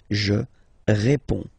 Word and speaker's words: réponds: Okay, so you can see that D and S here are not pronounced. Je réponds.